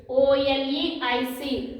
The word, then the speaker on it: oleic: OLEIC. Oleic. What is it? Oleic acid. Pronunciation for this is oleic acid.